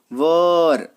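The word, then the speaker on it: were: चलिए अगर कहीं पे आपको वॉज या वर दिख जाए, देखिए ये वर, इसका प्रोनाउंसिएशन वेयर नहीं करते, है ना, वर, तो वॉज और वर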